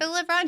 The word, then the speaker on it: Libin: by Phil Libin, if I'm pronouncing his name right. Libin, he works for AWS now.